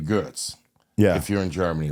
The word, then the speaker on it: Goetz: When he came here, they switched it to G-O-E-T-Z. Yeah, and I guess they did that to make it easier, but whatever. Maybe because pronunciation-wise, but to me. They pronounce but they pronounce my last name Goetz.